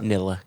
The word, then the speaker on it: Nilla: Cherry Ginger Nilla wafers is that how you pronounce that Nilla yeah as in vanilla got it right yeah